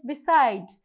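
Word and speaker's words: beside: Before toss compound প্রিপজিশননাদার বিসাইড এই বিসাইড শব্দটি আমরা কি দিয়ে পাই? By plus সাইড। আমরা এখানেও বাই এর কোন উচ্চারণ কিন্তু পাই না।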